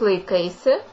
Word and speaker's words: laikaisi: The other variation as kaip laikaisi. Kaip laikaisi. Lai kai. It is made out of two words as well. So laikaisi. You can also state without the sound at the end of the word laikaisi. So it sound like this. Kaip laikais. Kaip laikais.